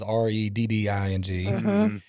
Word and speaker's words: Redding: But I've been saying it wrong, and the reason is because you got Reading, California is Redding, but it's a lot like it is here with, you've got Lancaster, Pennsylvania, but here it's Lancaster.